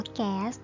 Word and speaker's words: แก๊ส: ว่า การ์ด ถูก ไหม แต่ ว่า ถ้า คน ไทย นะ คะ นิยม ออก เสียง ว่า แก๊ส ก็ ให้ ออก เสียง ว่า แก๊ส ต่อ ไป นะ คะ แล้ว